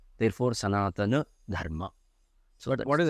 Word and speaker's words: Sanatana: Only then we will be able to realize how every word needs to be pronounced, whether it should be Sanatan or Sanatana or Sanatana. Sanatana is wrong. Sanatan is wrong. Sanatana is the right pronunciation.